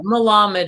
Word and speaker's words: Malamed: Malamed is how you pronounce the last name.